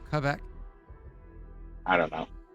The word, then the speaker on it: Quebec: Yeah, Fake probably French, from fake Quebec. Canadian, all God. awful. Quebec. Does he want his own currency? What a guy. Isn't it not Qua? It's Quebec.